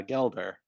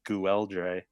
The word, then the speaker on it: Gelder: because it's actually uh gelder but i didn't know how to pronounce his name last episode i called him goo eldre i i it could